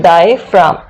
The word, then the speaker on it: diaphragm: इसमें भी क्या होगा, जी क्या होता है, साइलेंट होता है, इसलिए हम इसको पढ़ते हैं डायफ्राम।